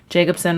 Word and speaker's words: Jakubcin: Jacobson would actually be the right way to say that, but it's not the traditional spelling.